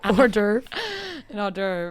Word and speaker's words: hors d'oeuvres: can't be how you say it i know hors d'oeuvres um is it fried no no it's not